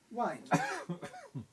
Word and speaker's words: wind: If you say wind, you've no rhyme, but wind rhymes with kind. And that clearly shows that in the early 17th century, wind was pronounced wind.